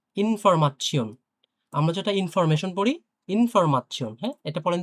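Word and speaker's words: Information: তো দেখি এরপরে ইনফরমাচ্ছিয়ন, আমরা যেটা ইনফরমেশন পড়ি, ইনফরমাচ্ছিয়ন। হ্যাঁ, এটা পড়েন তো, উচ্চারণ উচ্চারণ করতে পারবেন?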